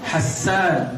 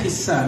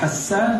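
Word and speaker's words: حسان: Hassan bin Tsabit. Boleh dibaca Hissan, tapi yang sahih Hassan bin Tsabit.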